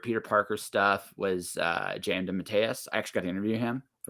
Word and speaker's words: DeMatteis: DeMatteis? DeMatteis.